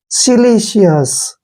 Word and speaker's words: silicious: Next देखिए SILICIOUS, देखिए इसको कैसे लिखेंगे, SI का उच्चारण हम शी करेंगे, ठीक है, डबल एल, सिंगल एल का उच्चारण ले करेंगे, और आई को हमने ई पढ़ना है, शिली, क्या हो गया, सिली। आगे का हमें पता ही है, CS, सिलीशियस, ऐसे।